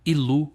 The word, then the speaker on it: Ilu: Abismo ao Deus supremo el Originalmente pronunciado ilu em ugaritico que vive na nascente